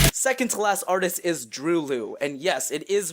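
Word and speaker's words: Droeloe: Second to last artist is Drew Liu, and yes, it is pronounced that way, Drew Liu, like the word true, confirmed by the artists themselves. Not Drolo or anything like that.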